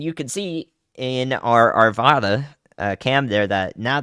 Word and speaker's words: Arvada: it now and you can see in our Arvada uh cam there that now the sky or